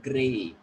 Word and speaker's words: great: consonant sound like this, you people have to pronounce R clearly, like great. So here we are having clear sound of R, great.